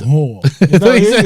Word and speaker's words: Lahore: place called Taste of Lahore, yeah? It's like a little Asian Man, Indian put gaff. emphasis on the second part of that last word. What did I say? He's- Lahore.